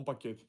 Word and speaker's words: paquet: Il dit qu'il a un paquet.